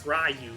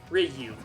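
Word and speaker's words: Ryu: the only person who C pronounced it as rayu for the longest time but no it's Riu you you you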